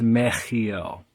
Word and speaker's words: Mehiel: so the the eighth letter of the Hebrew alphabet is sometimes shown as a CH which throws a lot of people off um more than it helps probably meel if you're not able to pronounce the sound um then meel is fine but just know that um the shim Angel name of 64 it's not just meel it's meel the Divine attribute is God